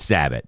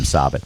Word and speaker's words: Sabat: It's Sabat, but the running joke is we all say Sabat. just we pronounce it cuz he's so famous that we